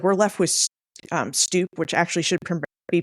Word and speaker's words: stoop: It just becomes like we're left with stoop, which actually should be pronounced stope, because the double vowel is a long sound.